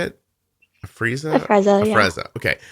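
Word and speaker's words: Afrezza: A Freza, yeah.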